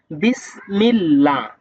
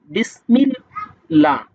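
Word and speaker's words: بسم الله: যদি এর পূর্বে যদি জের থাকে তাহলে চিকুন করে বারিক করে পড়তে হবে। পাতলা করে পড়তে হবে। যেমন বিসমিল্লাহ। বিসমিল্লাহ।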